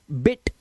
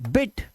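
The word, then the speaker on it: bit: silk lift है ना बिट अब देखो ब आई टी बिट इस तरह से तेज बीट नहीं करना बीट माने पीटना होता है और बिट बिट मतलब थोड़ा ठीक है इस तरह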